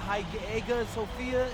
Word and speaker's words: Hagia Sophia: And one thing I'm really looking forward to is I hear they've got a beautiful architecture over there, and the Hagia Sophia, if I'm pronouncing that right, is supposed to be fire.